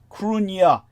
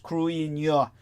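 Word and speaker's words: Cruithne: So when it comes to the planet, pronounced Crunya, phoneticized Cruinya, the word comprising but 12 syllables, Cruith and Nye, but the stress being on the first syllable, which contains both the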